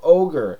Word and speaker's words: ohGr: The group is called Ogre, and it's spelled OHGR, and this is the album Undeveloped.